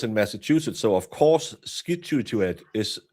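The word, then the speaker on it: Scituate: So of course skituet is pronounced situ. situate because anyone who saw those spellings would say, "Oh, situate." It's pronounced situate like the situation.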